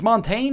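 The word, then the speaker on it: Montagne: all right Blitz lud how do you say that Mont it's Montaine man Montaine Montaine that's like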